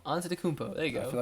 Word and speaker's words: Antetokounmpo: Antetokounmpo. Antetokounmpo.